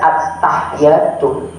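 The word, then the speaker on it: التحيات: Jangan at-tahiyatu, mesti ditekan, ada tasdidnya. At-tahiyatu.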